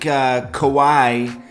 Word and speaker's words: Kawhi: tuning in okay so um we got Drake kowai kowai that's a good Kawhi Leonard that's how I guess you say his